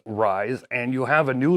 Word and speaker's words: RZE: And long story short, people didn't really care for the name, so now it is RZE, which I guess you could still pronounce as Rise, and you have a new logo.